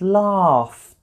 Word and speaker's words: laughed: The past tense is pronounced laughed. Laughed. It's a t sound, which is also just air coming out of my mouth.